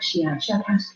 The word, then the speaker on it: Shia Shakash: I will try to say it smoother by use of your human letters, something like Shia Shakash for the very strong pronunciation of the SH and K sounds.